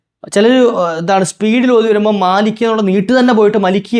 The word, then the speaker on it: مَالِكِ: ഓതുന്ന ശൈലി ഖിറാത്ത് അനുസരിച്ചിട്ട് മാലിക്ക് എന്ന് തന്നെയാണ് ഓതേണ്ടത് മാലിക്കി ല്ലേ അപ്പ അത് എന് ചെയ്യാൻ പാടില്ല സ്പീഡിൽ ഓതുമ്പോൾ മലിക്കി ആയി പോകാൻ പാടില്ല അപ്പോ അതൊരു തെറ്റാണ് എന്ത് മാലിക് അപ് മാലിക്കിൽ